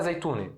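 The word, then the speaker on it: زيتونة: Tem ta marbuta aqui. Ta marbuta tem pronúncia O-A, O-A ou E. Então na Síria a gente fala zeitune, mas se você fala zeitona, tá perfeito. Zeitona, agora como a gente vai fazer o plural?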